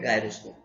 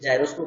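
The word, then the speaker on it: gyroscope: अब जो चौथा चैप्टर है वो है गायरोस्कोप। तो या तो कोई लोग जायरोस्कोप भी बोलते हैं, ठीक है। तो जो भी है प्रोनाउंसिएशन देख लेना। तो गायरोस्कोप, मैं इसको गायरोस्कोप बोलता हूँ, ठीक है।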